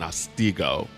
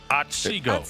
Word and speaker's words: Otsego: I call it O-Town now because I wasn't saying it right in Otsego. Otsego. Yeah, see, I still can't say it right.